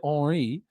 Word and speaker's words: Henry: If he pronounces it Henri, I'm going to say Thierry Henry.